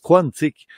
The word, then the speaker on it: quantique: Parce qu'on dira pas un aquarium, pourtant ça s'écrit aquarium, et on dit aquarium, on devrait dire quantique.